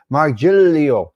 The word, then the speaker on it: Margilio: Margilio, the G is silent in Italiano.